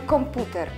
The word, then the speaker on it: komputer: Druga sylaba, tutaj akcentujemy komputer.